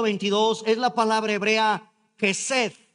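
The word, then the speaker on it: חסד: es la palabra hebrea Hesed, K de kilo, J-E-S-E-D, y pónganle un acento en la primera E. K de kilo, J-E, y ahí le ponen un acento, S-E-D, Hesed.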